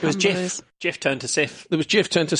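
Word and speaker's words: Cif: So it was called Sif elsewhere, which is ironic because here we wouldn't necessarily always pronounce the C as a soft C, so you go, oh, kif.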